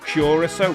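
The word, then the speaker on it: Curaçao: Pronounced Curacao. Thanks, Vic. Curacao.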